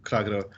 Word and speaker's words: Kragerø: you're probably in the in the suburbs of kragero but um perfect pronunciation perfect thank you i've heard you say